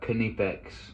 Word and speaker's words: Knipex: uh i know that it's pronounced by the way like the germans call it uh kinnipex tools but i'm i'm